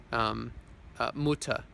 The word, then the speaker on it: Mutter: Mutter, that's mother, but the R isn't pronounced.